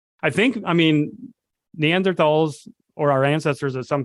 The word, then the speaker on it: Neanderthals: other day talking about Neanderthals, or actually Neanderthals, I should say. Apparently. Right way to say it.